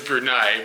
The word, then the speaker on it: Brunei: the Nay part of it but the actual pronunciation according to this guy was brunai but earlier we were talking to a dude